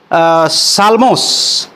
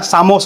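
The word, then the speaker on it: ψαλμός: और ये सब जब वो आया, एक दूसरा ग्रीक ट्रांसलेशन हुआ तो इसका नाम दे दिया गया साल्मोस या सामोस बोल सकते हैं, यल साइलेंट होता है।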